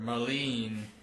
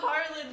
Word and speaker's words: Marlene: It's a little bit harder to learn, but All right, main character Marlene. Yeah. Hey, you said it right. Yeah, thank I'm you. not Marlin the fish anymore.